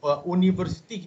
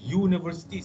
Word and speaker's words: university: Sebutan dia bukannya U. Kita tak panggil university. Kita panggil university.